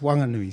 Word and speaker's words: Whanganui: I would like also just to mention Whanganui is spelt WH in written Māori, but in the local dialect it's pronounced Wanganui.